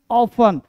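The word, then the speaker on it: often: ऑफन नहीं ऑफन। ऑफटन नहीं ऑफन ऑफन मतलब क्या हुआ भाई साहब ऑफन ऑफन प्राय अक्सर ऑफन अगला वर्ड है टी को ज्यादातर साइलेंट रखते हैं मेरे दोस्त अगला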